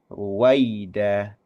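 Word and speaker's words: رويدا: Ruwaida, Ruwai, Ruai, Ruwai kan ya itu tidak dibaca e justru justru dibacanya a w gitu kan ya. Wai wai ya waida seperti itu.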